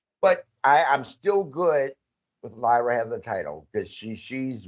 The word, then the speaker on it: Lyra: I'm not mad that they put the title on Lara, or how you pronounce him again? Lyra.